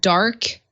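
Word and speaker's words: DarQ: Now, my understanding is there is an app from Quinny899 called Dark Q. That's how it's spelled, DAR with the letter Q, but it's dark.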